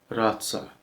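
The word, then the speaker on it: rață: The letter R is trilled just a bit. Razza, razza, duck. It's not that strong, but it has a little trill.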